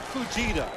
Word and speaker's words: Fujita: Scott Fujita, a linebacker, number 51, just gets there in time because there's a lot of space out in front of Tim Brown.